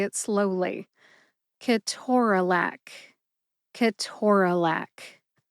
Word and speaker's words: ketorolac: It appears that, according to that reference, the USP Dictionary online, I have been saying Ke-TOR-a-LAC wrong since I entered the profession in 1997, first as a pharmacy technician and an intern in pharmacy school, and then later as a licensed pharmacist starting in 2001. Am I going to change the way that I say Ke-TOR-a-LAC? No.